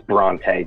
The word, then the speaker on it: Bronte: Yeah, it's actually, I was saying it wrong before. It's Bronte, Bronte.